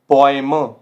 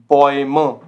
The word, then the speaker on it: Bäume: जैसे heute, heute, teuer, teuer, Bäume, Bäume। तो ये साउंड कैसे कर रहा है, ओए।